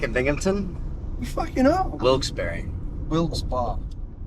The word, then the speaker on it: Wilkes-Barre: Wilkes-Barre. Wilkes-Barre. It's Wilkes-Barre. Wilkes-Barre. How the fuck does that say berry? B-A-R-R-E. Wilkes-Barre. Bar. Trust me. I used to think it was Wilkes-Barre, but it's Wilkes-Barre. It's bar.